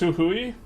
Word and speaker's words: Jujuy: Jujuy is pronounced Huhui.